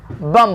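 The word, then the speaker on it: bomb: बम बोलेंगे। क्या बोलेंगे? बम। सिंपल सा रूल है। अगर एम के बाद अगर बी आए तो बी साइलेंट रहता।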